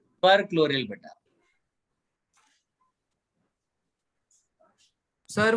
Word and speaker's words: chloryl: सर ClO3 को कैसे pronounce करते हैं? पर क्लोरिल बेटा। सर वो क्लोरिल है ना ClO2? ClO2 क्लोरिल है, क्लोरिल है, CHLORYL.